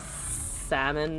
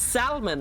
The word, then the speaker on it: salmon: children of the forest go ahead and pronounce the l and the salmon nothing like life matters anymore it's salmon right obviously it's always been